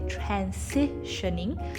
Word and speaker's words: transitioning: the word transitioning again we look at it and it looks like an s sound so we want to say transitioning so what happens here